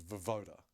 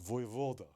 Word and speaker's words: Voivoda: And then there's these little snippets of like Jake said his name is Vovoda. And he was like, it's Voivoda. And I was like, well, it's spelt Vovoda for everywhere. The Y is new. I've not seen the Y in there before. Like, you just threw that in there.